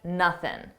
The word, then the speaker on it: nothing: And notice how I dropped that G sound at the end of nothing and I said nothing, for nothing, for nothing. This isn't a requirement. I could say for nothing, and I commonly do. I use both equally, for nothing, for nothing.